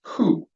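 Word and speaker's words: הוא: dividing markers needed this is the Hebrew word pronounced who in Hebrew who is he that's how you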